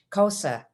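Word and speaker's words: Xhosa: and cosa cultures so you heard me pronounce cosa with a click as i said the word so the x is said using the k sound along with a click and the side of your cheek and i learned this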